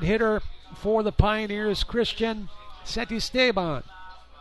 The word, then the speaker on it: Santisteban: Third hitter for the Pioneers, Christian Santisteban. Let me repronounce it. Santisteban. Santisteban. Say it 3 times, and the word is yours.